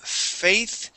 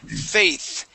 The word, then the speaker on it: faith: This right here, the word is faith, and we're going to end with the th.